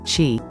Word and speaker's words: Qi: being has a life force or energy called Qi or Chi pronounced Qi when this energy which runs along meridians is